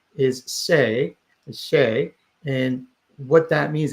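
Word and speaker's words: 四: So 4 is say, and what that means, it sounds like death.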